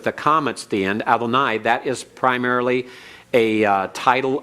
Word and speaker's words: Adonai: Now normally when it's pronounced this way and pointed with the commas at the end, Adonai, that is primarily a title of deity, and for man it is usually shortened to Adon.